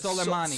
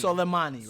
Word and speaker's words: Soleimani: So it's like because he's Soleimani. Soleimani, right? Soleimani, yeah. You see the name, the way it's like it looks. It's not pronounced in the way it looks.